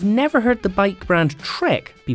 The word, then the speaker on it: Trek: brand's all-round race bike no it's not the track admin or edamame it is the trek emonda accessory brands are